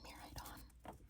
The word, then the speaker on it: Miraidon: How do you pronounce his name? Do you say Miraidon?